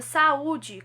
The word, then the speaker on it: saúde: caso agora tá bom já da palavra saúde como eu acentuei oo agora ele é uma vogal então ele vai ficar numa sílaba sozinho constituindo hiato a palavra saia e